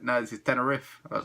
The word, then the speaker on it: Teneriffe: But the catch here is it's got 2 F's. So, basically, it's Teneriffe, but you have to pronounce it Teneriffe. Riff.